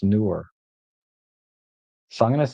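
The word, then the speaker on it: Neewer: Uh, n were it's spelled n were, but it's pronounced newer.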